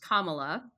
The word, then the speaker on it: Kamala: tribal sovereignty well first her name is pronounced Kamala and much like we